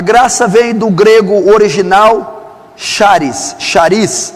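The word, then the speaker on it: χάρις: A graça vem do grego original charis, C-H-A-R-I-S, charis, ou charis, provavelmente deve ser essa pronúncia.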